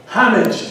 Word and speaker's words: homage: As an homage to you, but homage to the way you really should pronounce it, and the way it's pronounced in Washington, D.C. Homage.